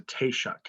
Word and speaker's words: Taoiseach: What we call the leader of Ireland is called Taoiseach. It's a Taoiseach. That's how you spell it, Taoiseach.